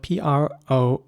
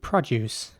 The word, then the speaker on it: produce: next word is spelled p-r-o-d-u-c-e and in british english this would be produce again the o is pronounced like an uh produce in american english